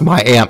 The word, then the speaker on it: Miami: to Miami and actually there's a Miami Oklahoma but it's actually pronounced my aunt uh even though it's spelled like Miami and the funny part